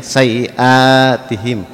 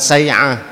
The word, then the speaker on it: سيئاتهم: سيئاتهم bukan ain ya, sayiatihim. Anhum sayiatihim. Sebentar. Itu bukan ain, hamzah. Jadi bacanya bukan sayi'ah ya. Sayiatihim.